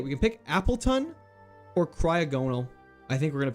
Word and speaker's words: Cryogonal: It's pronounced Cryog and no, Cryogonal.